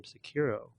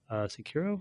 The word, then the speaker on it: Sekiro: From Software's latest game, Sekiro. Sekiro? I think that's how you say it. Sekiro, right.